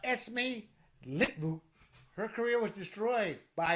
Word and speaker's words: Esmee Litjens: It's pronounced Esmee Litjens.